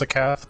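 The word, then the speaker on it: Scáthach: It's usually pronounced Sakath, but there are other ways to pronounce it, like everything.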